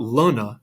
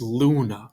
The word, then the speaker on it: luna: And the same, the word moon is not luna. It's luna, right? So think of rule and full, and you'll hear the different ways that we pronounce the letter U in Latin.